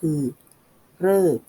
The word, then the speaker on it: ฤกษ์: เป็น อาลิ อิ ริ แบบ ที่ 3 ออก เสียง เป็น เสียง รือ มี เพียง คำ เดียว ก็ คือ เลิก อ่าน ว่า ฤกษ์ หมาย ถึง เวลา ที่